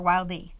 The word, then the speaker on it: Wilde: And you created this Wild or Wilde? Wild. I know it's spelled WILDE. Like Oscar Wilde.